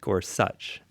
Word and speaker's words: Gorsuch: the confirmation hearings I learned his name is pronounced Gorsuch so good good to know right um but